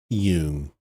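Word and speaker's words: Jung: Carl Young. Actually, yung. It's called Ying. All right, Dad. I love doing that. It's one of my big It's one of the great pleasures of my life is correcting people's pronunciation of Carl Yung.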